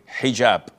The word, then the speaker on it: hijab: And I know in France they don't pronounce the H when it is in the beginning of the word, as in hotel or hello.